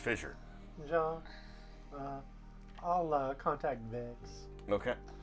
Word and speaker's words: FSSR: pronounced Fissure.